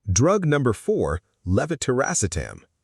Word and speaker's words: levetiracetam: — DRUG 4: LEVETIRACETAM — Drug number four: levetiracetam.